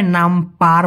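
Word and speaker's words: nampak: হ্যাঁ, উচ্চারণটা প্রায় নামপার মতো শোনা যায়, কিন্তু মেইন উচ্চারণটা হবে নামপা, লাস্টে একটা ক আছে, কে আছে।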